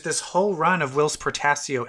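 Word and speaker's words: Portacio: Portasio.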